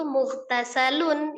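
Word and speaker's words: مُغْتَسَلٌ: Jadi kalau dibacanya terpisah seolah-olah mug itu sendiri, tasalum sendiri padahal itu mughtasalun ya itu satu kata ya mtasal. Nah, jadi jangan dipisah.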